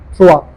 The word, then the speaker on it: trois: If you see O E together, the sound is always O A wa. So it becomes trois.